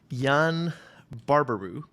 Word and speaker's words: Yann Barbarroux: we'll see uh today i have with me jan barbaru uh ceo and co-founder head of analytics at